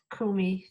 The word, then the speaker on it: Coomey: my name is Kumi and pat p Kumi is co o m y and is t